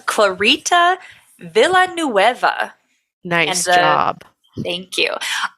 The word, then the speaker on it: Clarita: And I think if we wanted to do the super correct pronunciation, it would be Clarita Villanueva. But we're just going to call her Clarita for this.